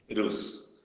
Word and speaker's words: vírus: E se separar as sílabas da palavra vírus, fica vírus. Então, a sílaba mais forte é a penúltima, porque a última é rus, a penúltima é vi. Então, é a sílaba mais forte, por isso que ela é acentuada.